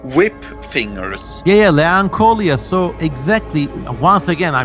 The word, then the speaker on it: Leanchoilia: Actually, I will say, like, I think Leancholia, and the way to spell it is Leanchoilia, Leanchoilia.